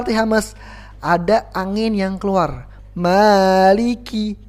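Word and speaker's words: مَالِكِ: ada angin yang keluar Maliki Kiki jadi bukan mariki Kiki tapi qqqq ada angin sedikit aja ada angin sedikit saja yang yang keluar meiliki Kiki bukan q&q tapi Kiki kemudian yang perlu kita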